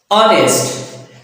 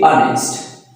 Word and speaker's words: honest: When for example, when we say honest, so it is not honest, it is honest. Here it's Here H sound is silent.